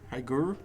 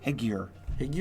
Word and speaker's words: Higure: Hygor? Higure. Maybe read it. Hygor, the Still Wind? It just rhymes with figure, and I don't know why that bugs me beyond belief, but it just does.